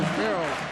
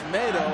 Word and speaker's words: Yusmeiro: Everybody's been calling him Yusmeiro. It's tomato, like tomato. He made it real clear to us. That's how you say his name properly.